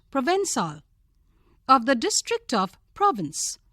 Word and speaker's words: Provençal: Provençal, pronounced Provençal, of the district of Provence in France, known for its baths and its grapevines.